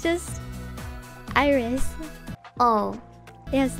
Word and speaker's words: IRyS: iris like your eyeball my name is as i've said iris i know a lot of people were very um confused about how it's pronounced because of the spelling probably it is not it is not irise it is not it is not ours it is just iris oh yes